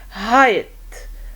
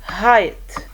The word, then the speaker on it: height: i have i gh silent gh okay like height height slide slide psi psi you see the igh the i takes the long i sound and the gh is silent so psy and the